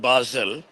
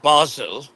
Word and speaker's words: Basel: at I'm at art basil no there's nothing to show off uh it's not basil uh in case thinks I'm talking about an herb which people like pronounced herb. So, it's art Basel and I'm here observing